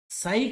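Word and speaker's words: psi: है साथियों ठीक है साई क्या है यहां पर ये जो दिया हुआ है ना ये इसको लिखते हैं पी एस आई प साइलेंट होता है इसको साई बोलते साई कह सकते ठीक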